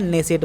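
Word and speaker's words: Knesset: के एन E double S ई टी बोलते हैं। और हिंदी में इसको क्या बोलते हैं? नेसेट बोलते हैं। क्या बोलते हैं? नेसेट बोलते हैं। और इसको यहां पर के साइलेंट है।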